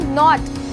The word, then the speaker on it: knot: ऐसे ही अगर मैं बोलूँ नॉट, तो KNOT होती है हमारी नॉट की स्पेलिंग, पर यहाँ पर एन से पहले के आया है तो ये भी हो जाएगा साइलेंट।